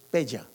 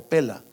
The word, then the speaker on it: Pella: Se fueron a una ciudad llamada Pela, se escribe con doble L, Pella o Pela, en la zona de Petra, por allá.